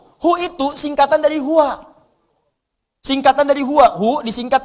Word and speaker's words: huwa: Hu itu singkatan dari huwa. Singkatan dari huwa. Hu disingkat huwa. Kalau Anda wakaf membaca kalimat bahkan dalam bahasa Arab, apalagi Al-Quran, berhenti pada kalimat huwa, maka huwa-nya nggak bunyi. Bacanya hu.